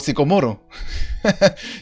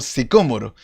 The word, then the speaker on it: sicómoro: Entonces, eso me pasó a mí mucho tiempo repitiendo árbol sicomoro. Y era un árbol sicómoro.